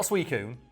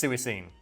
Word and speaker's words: Suicune: It's not Suicune, it's Suicune. All of the legendary dogs are kind of like that, yeah.